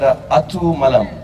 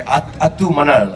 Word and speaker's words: Atu Manal: It's sorry if I pronounce it wrong, but it's called Atu Malam. Malam? Manal. Manal. Okay, Atu Manal.